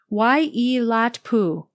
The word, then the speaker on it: Waiilatpu: It's pronounced Waiilatpu.